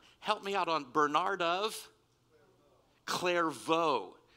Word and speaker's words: Clairvaux: me out on bernardov clairvaux it's not claire vox okay very good i